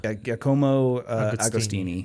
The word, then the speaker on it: Giacomo Agostini: I forgot how to say his name because I looked up how to pronounce it. His nickname was like Ago. Giacomo. Giacomo Agostini.